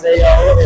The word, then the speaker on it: Zao: Zao is actually how it's pronounced, but I think if he's getting points, Dizio works.